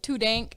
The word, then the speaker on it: 2DNK: with it uh so my name is tudenk it's spelt 2dnk and the way i came